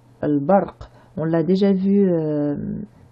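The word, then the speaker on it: البرق: Ici, article qui se prononce sauf le alif qui va être avalé au cours de la liaison entre les deux mots. L, ba, r, qu. Al-barq.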